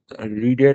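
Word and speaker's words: read: কোন একটা জায়গায় ওটা রিডের পাস্ট পার্টিসিপল ফর্ম রেড হবে উচ্চারণটা রিডিং মানে উচ্চারণ স্পেলিংটা রিড এইযে কিন্তু উচ্চারণটা রেড হবে এটা আমি ভুল উচ্চারণ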